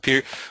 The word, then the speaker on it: Piotr: And we've got Piotr, or how do you pronounce that, Piotr? Can you chat that over to me? Oh, just pronounce it Peter.